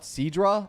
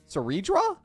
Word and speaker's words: Cerydra: You not see the R in her name? What? Cidra. I'm legit pronouncing the R. Sera. Cedra. Ceredra. Oh, Cedra.